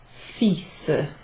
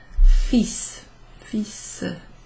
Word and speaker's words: fils: J'ai parlé avec mon fils. Fils. So that's pronounced fils, even though it's written F-I-L-S.